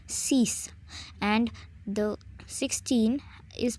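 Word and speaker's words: six: as in English but the pronunciation is cease and the 16 is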